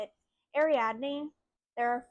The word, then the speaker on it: Ariadne: Next book I had to look up the pronunciation on because I didn't even know how to say it. Ariadne.